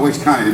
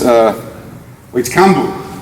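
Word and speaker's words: Uechi Kanbun: No, it's not Uechi Kanye. No, sorry, my apologies. It's Uechi Kambu.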